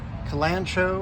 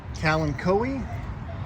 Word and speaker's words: Kalanchoe: Kalanchoe or Kalanchoe, depending on how you want to pronounce that.